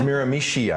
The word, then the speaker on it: Miramichi: a lot of problems as well yeah it's mira mishi i'm told miranda are you from new brunswick